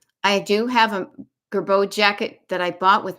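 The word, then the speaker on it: Girbaud: She used to call it Gerbaude, kind of like, what was that? There was in a movie, somebody mispronounced it. I do have a Gerbeau jacket that I bought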